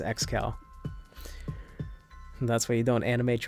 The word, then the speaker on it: Excal: Do you pronounce it Excal or Excal? It's Excal.